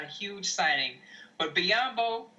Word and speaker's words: Biyombo: a huge signing but biyombo rhymes with Matumbo and Lakers can get